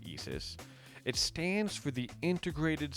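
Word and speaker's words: ISʘIS: circle in the middle in is but it's pronounced Eis it stands for the Integrated Science investigation of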